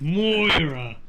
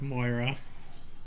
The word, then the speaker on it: Moira: Yeah, it's Moira.